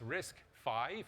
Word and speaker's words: RISC-V: about the name and first of all it's risk five even though it's spelt with a Roman numeral v because the first risk